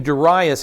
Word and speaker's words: Darius: chapter six darius darius is the king i pronounce his name darius he's the king of the medes he's the